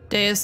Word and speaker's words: Deus: Deus like deity.